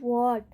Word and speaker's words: what: AEI और Y हो, तो WH में H का उच्चारण नहीं होगा। यानी WH के तुरंत बाद A, E या I हो स्पेलिंग में, तो वहाँ पर H का उच्चारण नहीं होगा। जैसे एग्जाम्पल, WHAT, WHAT, इसको क्या पढ़ेंगे हम, वॉट, वॉट, वेयर, वेयर, विच, यहाँ पर एच का साउंड नहीं होगा, एच साइलेंट होगा।